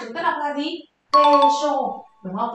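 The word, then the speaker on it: 軽傷: Kê-sô, đúng không? Vết thương nhẹ là kê-sô nhé, chúng ta dùng hai âm ô chúng ta ghép với nhau.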